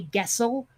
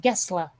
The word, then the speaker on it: Gessle: an American would say Gessel, Gess, sorry, Le, but apparently in Swedish it's pronounced Gessle.